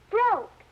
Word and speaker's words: broke: Saying the word helps us remember how the word looks, especially words like broke, which have a silent letter, such as this E.